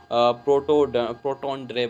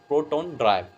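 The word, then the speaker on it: protandry: हम क्या बोलते हैं, प्रोटोन्ड्रे बोलते हैं। क्या बोलते हैं, प्रोटोन्ड्री बोलते हैं, प्रोटोन्ड्राई actually, this is actually correct pronunciation is द प्रोटोन्ड्राई।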